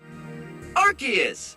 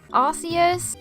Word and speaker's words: Arceus: With Arceus, or Arceus, I'm not completely wrong because it was originally meant to be pronounced as Arceus, before they realized that it resembled a naughty British word.